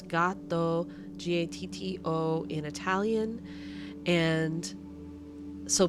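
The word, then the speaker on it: gatto: people are not going to know how to spell it because it's gato gato in Spanish it's got though g-a-t-t-o in Italian and so people are going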